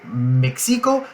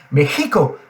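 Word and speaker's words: México: sont tirés en arrière on laisse derrière les les grosses molires on laisse passer l'air et ça fait Mexico Mexico chez nous c'est Mexico chez c'est Mexico donc voilà la petite différence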